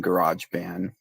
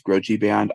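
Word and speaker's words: GarageBand: to say maybe I haven't seen Garage Band. I think that's what's how it's pronounced. I I Okay. For for a while I thought it was I thought it was Groji band.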